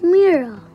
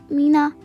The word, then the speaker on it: Mira: They scratched out the I until it sounded like E, and their R sounded wrong.